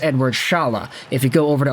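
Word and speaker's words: Eduard Šalé: say Charlotte even though the spelling actually has a little Accent on top of the E indicating it might actually be pronounced Chalet but I've been hearing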